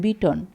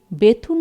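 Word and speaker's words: Bethune: আরেকজন drink water বিটন ইহার নামের প্রকৃত উচ্চারণ বিটন কিন্তু এদেশে বেথুন হইয়া পড়িয়া আছে সেই নামেই সকলে ইহাকে জানে এই দুই ইংরেজ বাংলাদেশের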